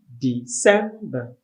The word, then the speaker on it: December: of the year is december the sem the stress also on the second syllable and it's pronounced and spelled correctly as d e c e m b e r so this are the